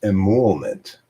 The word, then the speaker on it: emolument: Emolument. Emolument. Emolument. Emolument. Emolument. It's pronounced emolument.